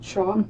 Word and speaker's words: Schauf: Do you pronounce it Schauf?